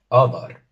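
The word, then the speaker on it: adar: Other. Other. Tenemos las dos A's profundas y al ser una palabra de dos sílabas, la tónica cae en la primera.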